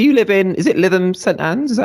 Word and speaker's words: Lytham St Anne's: Is it Lytham St Anne's? Is that how you say it? Yes, so it's Lytham St Anne's, just outside Blackpool.